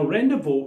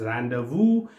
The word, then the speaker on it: rendezvous: aspect of loadrunner called as rendezvous point now rendezvous is basically a french word which is pronounced as rendezvous but written as rendezvous now